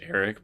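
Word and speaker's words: Arryk: battle between Eric and aric I think they're still both pronounced Eric but I'm I can't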